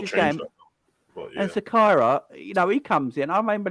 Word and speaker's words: Zakaria: Is it Zakaria or Zachary? I can't remember how you pronounce his name now. Yeah, Zakaria.